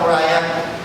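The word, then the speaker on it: Moriah: Ay moria ' ba dapat moraya hindi moria kasi batangeno po kasi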